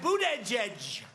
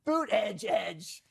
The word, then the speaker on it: Buttigieg: I like when he says Boot Edge Edge. Well, you have to pronounce it correctly, Jesse.